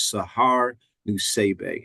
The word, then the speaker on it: Sahar Nusseibeh: Ladies and gentlemen, Coach Sahar Nusseibeh, and make sure I pronounced that correctly. You pronounced it great.